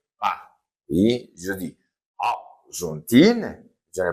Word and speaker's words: Argentine: exemple France comme terminant e est fémin comme ça c'est e mué ne se prononce pas je dis arontine je ne prononce pas le eintine et je dis fron d'accord Donc simple de pays masculins.